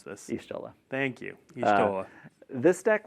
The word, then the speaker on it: Y'shtola: And then our fourth deck, we have Final Fantasy XIV, featuring, I do not know how to pronounce this. Y'shtola.